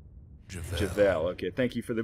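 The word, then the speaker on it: Jevel: We'll get rid of Pith, and we'll invoke Javal. Javel. Okay, thank you for the pronunciation correction, Rux.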